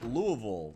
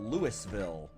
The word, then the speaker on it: Louisville: for anyone who doubts me yes it is pronounced Louisville not Lewisville swear to God that is one of the